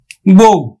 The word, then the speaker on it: বউ: ও এর মতো উচ্চারিত হবে। যেমন দেখো বউ, তাহলে আদ্য অ এর পরে রস্বইকার আছে, তাহলে আমরা উচ্চারণ করব বয়কার রস্বউ, বউ।